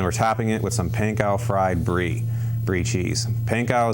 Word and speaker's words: panko: you may or may not have heard me pronounce that flower is panko PA nko it is a Japanese original that